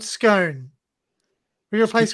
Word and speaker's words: Scone: It's called Scone. Then you have scones when you want to have a scone. See, but scone is not scone. You know what I mean? It's spelled exactly the jam same. and cream? But there is a town called Scone. You call it Scone.